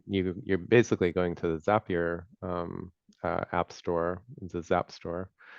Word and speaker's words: Zapier: Um, so most people go use, I think it's Zapier. I think it rhymes with happier is the thing that we learned one time. Um, Most people, you know, they go use Zapier.